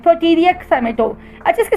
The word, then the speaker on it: Pouteria: तो इसका नाम है पटीरिया खाइमेटो, साइमेटो भी कहते हैं, खाइमेटो भी कहते हैं, प्रोटीरिया साइमेटो। अच्छा, इसकी स्पेलिंग मैं बताती हूँ, आप भी ज़रूर सर्च कीजिएगा इसको।